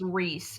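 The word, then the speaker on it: Rhys: met some flaming Sunbirds I know you can pronounce r h Ys Reese so I would go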